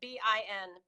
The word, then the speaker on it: been: i've just written but we're gonna pronounce it bi n bin always always bi Ben if you're in my class and you say bean where have you been